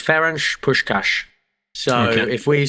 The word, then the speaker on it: Ferenc Puskás: Okay, so I asked the lady, it's Ferenc Puskás. So if we sound like Steve McLaren, then that's the fault of the Hungarian language. Sean Connery, Ferenc. Yes. Yeah, sure, Ferenc Puskás.